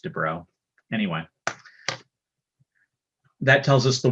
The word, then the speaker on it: de Broglie: write this down but de broglie but i think it's pronounced de bro anyway that tells us